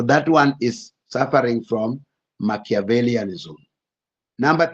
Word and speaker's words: Machiavellianism: Then number 2, under the dark triad, we have Machiavellism. Machiavellianism. Those who are doing English literature, there's a writer called Machiavellian. So we are saying Machiavellianism. Sorry, Machiavellianism. Machiavellianism.